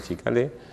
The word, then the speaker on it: Ciccale: Se escriben Cicalé, no con C, pero se pronuncian Chicalé, se radicaron en la